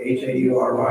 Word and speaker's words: Haury: And next is, is it pronounced Haury, H-A-U-R-Y? Haury. Haury, please, welcome. Thank you very much. I'm Howry, and I live at 801 Middlefield Court in Town and Country with my husband.